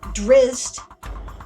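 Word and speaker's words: Drizzt: for different names right this is how i found out things like the word is zach nafion drizzed right and menzo baronson right otherwise i would have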